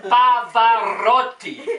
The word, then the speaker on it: Pavarotti: Luciano Pavarotti. Say after me, Luciano Pavarotti. After me, you dumb boy. Luciano, Luciano. Pavarotti. Pavarotti. No, Pavarotti. Pavarotti. You cannot roll your R's, can you?